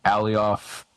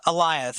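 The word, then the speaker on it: Alioth: the show uses uh elias it's like goliath it rhymes with lion yeah or okay that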